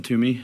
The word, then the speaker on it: Twomey: It's pronounced Toomey, like toss it to me. Please give us your name and address, and then you can start. My name is Toomey.